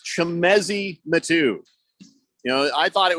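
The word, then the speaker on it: Chimezie Metu: is I was right on half of my pronunciation so I feel like I should get a gold star it's chemezi matu you know I thought it was the metoo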